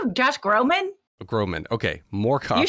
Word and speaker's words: Groban: know, Tina Fey, Joel Grey, Patrick Stewart, Josh Groban. Did you just call him Josh Groban?